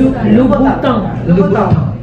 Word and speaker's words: Louboutin: How do you pronounce this, Louboutin? Yes. Louboutin. Okay. Louboutin.